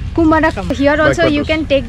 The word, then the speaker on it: Kumarakom: How to pronounce it correctly, this place? This is for Kumarakom. Kumarakom.